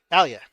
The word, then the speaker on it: Alia: I was also spoiled by Mr. Aya. Alia. Alia. Sorry, I mispronounced it.